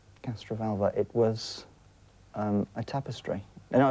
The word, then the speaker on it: Castrovalva: What was the Master's TARDIS disguised as in Castrovala? Castrovalva.